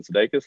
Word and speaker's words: Sudeikis: i was just like my name is actually pronounced jason sedakis that's how my dad says it not that you care